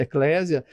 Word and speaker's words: Eclésia: para o latim e a gente usa essa pronúncia Eclésia ela ela era é